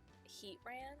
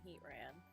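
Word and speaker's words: Heatran: pronounce that one's name heat brand is that how it's pronounced I'm guessing heat ran I think it's heat ran we'll meet heat gross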